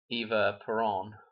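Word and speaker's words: Eva Perón: Okay, so Eva Peron, that's how you say it, and Juan here, they got married on 10/22.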